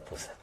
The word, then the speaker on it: Puza: Fixadevos que nome máis fermoso ese modelo, a Puza da Ran, pronunciado como pronuncian na súa terra, en vez de Poza, Puza.